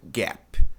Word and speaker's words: gap: A pronúncia correta é gap. Gap.